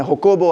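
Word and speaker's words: Jacobo: Latin America के अंदर जाकोबो आरबेंस या उनकी अपनी जुबान में होबो आरबेंस वो जेजरा सॉफ्ट प्रोनाउंस करते हैं।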